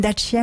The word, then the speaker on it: Dacia: Bon, moi j'ai une Dacia, vous voyez, mais ça me plairait bien quand même. Oui, c'est autre chose. Car vous la prononcez à la roumaine en plus. C'est autre chose. On dit Dacia chez nous.